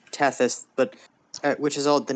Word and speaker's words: Tethys: new friend isn't named chris tefes thank god you hear a bunch of cursing and screaming in like three different levels of ruckus it's actually pronounced tethys but which is all